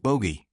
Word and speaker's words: Bogue: A town named Bogue, Bogue, pronounced bogey, sits quietly along North Carolina's coast.